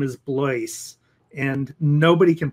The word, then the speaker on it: Blois: So I have a friend whose name is Blois, and nobody can pronounce his name properly the first time. And I've known people who have known Blois for many, many years, and still can't pronounce his name for whatever reason.